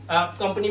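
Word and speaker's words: campaign: और इसी तरह से कैंपेन एक वर्ड होता है जिसके अंदर जी साइलेंट होता है।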